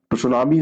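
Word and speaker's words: tsunami: से जाना जाता है सुनामी इसको लिखा जाता है लेकिन यह जो सब होता है यह रोटी साइलेंट करके इसमें पढ़ा जाता है जापानी सब है यह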